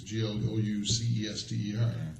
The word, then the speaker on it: Gloucester: the saints the main street in brunswick it's g-l-o-u-c-e-s-t-e-r yeah you pronounce that yeah gloucester yeah but that's how